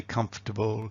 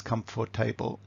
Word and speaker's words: comfortable: So imagine you've got a student and you say: "comfortable" and your students says "come for table." And you say "comfortable" and your student says "come for table" and they can't get it.